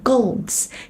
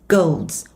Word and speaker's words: goals: Đừng đọc là goal mọi người nha, mà nó sẽ là âm goals.